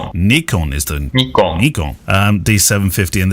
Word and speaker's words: Nikon: brick known as the Nikon D750. Gunnar, you know since listening to this show that it's not pronounced like that. Nikon is the Nikon D750